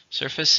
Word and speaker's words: surface: Surface is the outer part of something, the outside of something. It's a noun and a countable noun. How many syllables are in surface? 2, stress on the first.